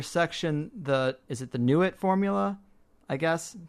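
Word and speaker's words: Nuit: the is it the new it formula I guess how to pronounce it n ui t yeah new it new it's the Egyptian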